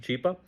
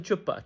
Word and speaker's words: Chapa: got involved a humanitarian his name is Chapa Mr Chapa and she starts pronounce she she starts mispronouncing she calls him chipa chipa and yeah Chupa